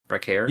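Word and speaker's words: Vaquer: Vakair. You pronounce it right the first time last week when you pitched this.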